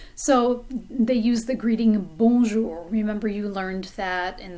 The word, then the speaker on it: bonjour: but for now it's bonjour remember that the o n sounds like a vowel sound coming through your nose almost like you have a cold bonjour and that j is just like juliette bonjour je m'appelle je